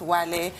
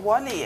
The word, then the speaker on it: Wale: But in the name of diversity and inclusivity, they can't pronounce Wale. I have no idea what Wally is and why he left them calling Wally.